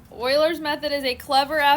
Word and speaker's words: Euler: said oh I spelled it like oil again spell it like oil said get the E thisy all right Oiler method is a clever application of local